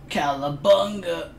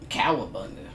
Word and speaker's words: cowabunga: know i'm saying with a little swan dave calabanga cowabunga i said it wrong i ruined it thank